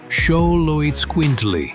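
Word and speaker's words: Xoloitzcuintli: Number three, Xoloitsquintly. Aztec tribes. Try saying it with me. Sholoitsquintly.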